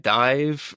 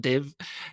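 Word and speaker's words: DIIV: I um I've been really digging into the band Dive recently. Like I think that's how you say it. D III, it's not Dave.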